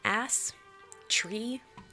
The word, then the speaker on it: Astria: How do you pronounce my name? Ass tree.